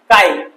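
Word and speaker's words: χ: কাই, ছি নয়, ঠিক আছে, ছি ছি উচ্চারণ করবেন, এটা কাই, ঠিক আছে, গ্রিক ওয়ার্ড কাই। অনেকে আমার স্টুডেন্ট আছে বলে স্যার কি লিখছেন, ছি, ছি নয়, এটা কাই।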